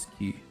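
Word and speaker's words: 好き: Suki is ski. It's not like ski.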